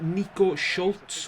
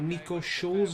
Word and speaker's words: Nico Schulz: Our left back, we've got Nico Schultz, or Nico Schulz is how you say his name.